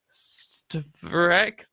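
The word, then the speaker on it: čtvrtek: C with a thingy. Oh, it's a ch, isn't it? Yeah. It's like the CZ in Czech.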